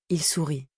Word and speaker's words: sourit: Au présent, on écrit "Je souris", "Tu souris", il sourit. Au pluriel, on écrit "Nous sourions vous souriez, il sourit". Attention, le thé de le sourit ne se prononce pas mais il s'écrit.